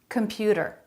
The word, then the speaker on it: computer: they're all saying that with a flap computer data that a flap instead of a T sound computer computer middle syllable stress if you can add